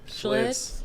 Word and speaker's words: Schlitz: Schlitz.